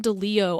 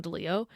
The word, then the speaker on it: DeLillo: his name pronounced Don DeLeo, I think. I'm actually not sure because it's Okay. DELILLO. So if it's pronounced kind of like Spanish, it's Don DeLeo.